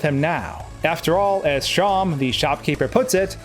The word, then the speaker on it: Seam: When we head back to Sham, yes, that's apparently how you pronounce it.